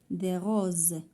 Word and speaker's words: rose: Des roses. S entre deux voyelles كتنطق ز.